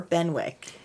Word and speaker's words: Benwick: Harville are very nice is it benck or benwick I think it's benck okay cuz of course how it's spelled you would think I know so my